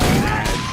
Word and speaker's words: Madge: It's Madge, which rhymes with badge, as in duh, and no as in more than you.